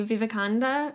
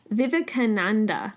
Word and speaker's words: Vivekananda: resource from this Swami Vivekananda, I'm not saying that right. I feel like it's Vivekananda. That's it. Sorry. Yeah, Vivekananda. I'm missing a syllable again.